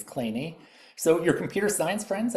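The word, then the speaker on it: Kleene: Um, this was named after the American mathematician Steven Cole Clay and it really is pronounced Clay. You look at it, you might think Clean, but it is Clay.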